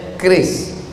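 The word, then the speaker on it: QRIS: Cara bacanya keris.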